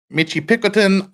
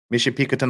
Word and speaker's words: Michipicoten: Anderson before changing to a southeasterly course towards Michipicoten Island. Hope that's how you guys pronounce it up there. Michipicoten Island.